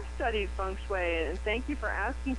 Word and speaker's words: feng shui: And how do you pronounce that again? It's feng shui, but it's actually spelled F-E-N-G.